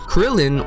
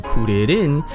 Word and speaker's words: Kuririn: Krillin, or for his original pronunciation, Kuririn, when you take the